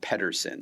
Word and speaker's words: Pedersen: So, your last name, do you how do you say it's pronounced Person?